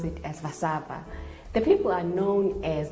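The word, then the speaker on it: Warszawa: the capital city is called warsaw generally they pronounce it as vasava the people are known as the polish and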